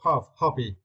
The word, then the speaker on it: hobby: Yeah, for this word you need to stress the first syllable hobby.